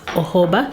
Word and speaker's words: jojoba: I made an oil mix of jojoba oil, written as jojoba but pronounced as jojoba, olive oil, sunflower oil,